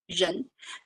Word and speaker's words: 人: It's pronounced like a 人. So start with R.